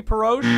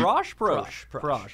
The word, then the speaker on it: Anthony Perosh: Anthony Perosh. Prosh. All right, I got that one wrong.